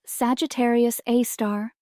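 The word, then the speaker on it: Sagittarius A*: At the very heart of our Milky Way, lies a super massive black hole named Sagittarius A, pronounced Sagittarius A star.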